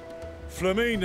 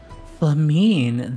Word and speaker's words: Flamine: Flamine and the others wish you all a safe journey, and promise that they'll look after things here until you return. Flamine, that's how you pronounce that name.